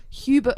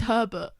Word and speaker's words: Herbert: this is actually a joke man I said Hubert Hoover I said so his mom hated him that's what I'm hearing Hubert Hoover not Henry Hoover am I I could be saying it wrong. It's Herbert.